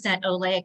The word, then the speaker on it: oleic: They both are about 70% oleic acid, and it's pronounced oleic, but it's O-L-E-I-C, I believe.